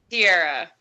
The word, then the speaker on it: Tiara: Just so we get it right, is your name pronounced Tiara or Tierra? Tierra.